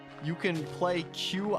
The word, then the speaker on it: Qi: q you can play Qi I think it's pronounced like Chi or whatever uh and that's the